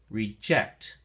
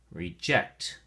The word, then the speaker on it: reject: Reject has two syllables, and the emphasis or stress depends on how you use it in a sentence. If you use it as a verb, like in the definitions that we're going to share, then the emphasis or stress is on the second syllable. And we say reject, reject.